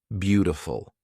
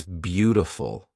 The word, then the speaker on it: beautiful: is actually pronounced as beautiful it's almost a d that is almost an R it's beautiful you know I'm using